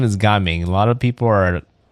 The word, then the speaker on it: Gaming: I do think it would have been nice if they had something between the Ga and the Ming, and people would probably pronounce them correctly.